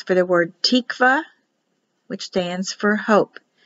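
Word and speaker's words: תקוה: makes it an h this only means a syllable separation it's for the word tikvah which stands for hope it's a feminine noun it's in the bible 34 times in the strong's concordance h 8615 tikkava here's a word for shalom shalom start on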